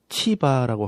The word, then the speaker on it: 치바: 말씀에 보시면이 사울의 집에 시바라는 종을 찾아옵니다이 원래 발음은 치바라고 합니다 식물이라는 뜻입니다이 시바라는 종을